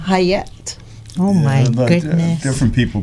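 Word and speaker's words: Chayet: uh c h a ye T so it's pronounced hayette oh my good different people pronounce but I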